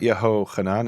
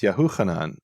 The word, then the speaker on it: Yahuchanan: Okay, so it's not Yehochanan, it's Yahuchanan. Okay, I mean, there's no evidence for that from Hebrew sources, right? But at least you're saying that's the prefix form is Yahuchanan, Yahushua.